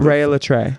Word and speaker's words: Rhea Litré: About Rhea, can you pronounce Rhea's full name for Rhea Litré. Okay, because some people have trouble figuring out how to pronounce it when they haven't heard it before.